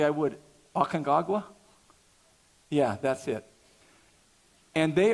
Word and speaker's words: Aconcagua: Aconcagua?